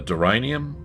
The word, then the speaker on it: deranium: Uh the deranium rhymes with geranium.